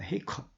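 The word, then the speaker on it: 黑客: 헤이커. 헤이커와 해컨 비슷하죠.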